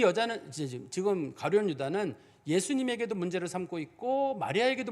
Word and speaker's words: 가룟 유다: 당시에 성경에 보면은 우리가 가룟 유다를 우리가 옛날에는 가롯 유다라고 불렀습니다만 정확한 발음이 가룟 유다예요.